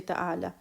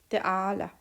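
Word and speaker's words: تعالى: Ta'ala, ayn is from the upper throat, so we have to be careful. We don't mix up it or don't pronounce like alif. We don't say ta'ala. So it has to be ta'ala, ayn from the throat.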